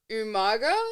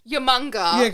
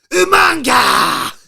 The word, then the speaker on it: Umaga: I love that you say it properly both times in the intro and the outro. I had to question myself because I used to go Yamunga. Yeah, like I sounded more British.